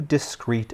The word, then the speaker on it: discrete: Although it is pronounced the exact same way as the discrete we just went over, it has a very different meaning.